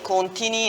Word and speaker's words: Contini: mettendo l'accento sulla I, perché tutte le volte quando vado fuori dalla Sardegna, devo combattere il fatto certo. che io dico sono Contini e loro invece mi presentano come Contini.